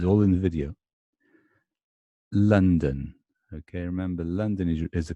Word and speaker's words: London: Remember this funny upside down V is London. And it's exactly the same as this upside down E. Yes, exactly the same sound. The only difference is that when it's stressed, here's the stress, it's the upside down V. And when it's not stressed, it's the upside down E. Don't ask me why.